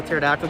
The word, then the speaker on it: pterodactyl: Yeah, do you know why you can't hear a pterodactyl go to the bathroom? Because the P is silent.